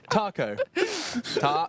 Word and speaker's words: TACO: Taco, that's how you say it. Taco. Taco. No. Like tar. Yeah, like as in T-A-R. Yeah. Taco. Taco. Well, not really an R, but yeah, go with it.